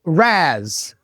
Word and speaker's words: Raz: Raz.